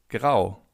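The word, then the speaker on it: grau: Gray in German means grow. Grow. As you can see in German, if you have the letter A followed by a U, you have an O. So, it's pronounced as in.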